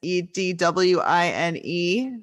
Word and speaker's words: Edwine: It's Edwine, not at all how it is pronounced.